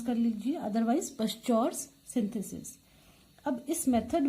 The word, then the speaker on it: Pschorr: करेंगे इसका नाम है पश्चौर्स सिंथेसिस। इसमें पी साइलेंट भी हो सकता है, तो उस तरह से भी आप इसको प्रोनाउंस कर सकते हैं। तो जैसे भी आप इसको प्रोनाउंस कर लीजिए, अदरवाइज पश्चौर्स सिंथेसिस।